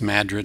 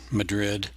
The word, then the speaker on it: Madrid: Pronounced Madrid, not Madrid.